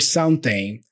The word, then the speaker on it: something: This is a common way of pronouncing the word something. And Americans do this all the time. They reduce it so much that it doesn't even sound like something.